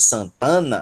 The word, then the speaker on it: Santana: Qual é a sílaba tônica? Não é san. Se fosse a palavra santa, aí a sílaba tônica seria san. Se fosse somente a palavra Ana, aí a sílaba tônica seria a, de Ana, tá? Mas como é uma palavra só, formada por duas outras, Santana, aí a sílaba tônica é tan.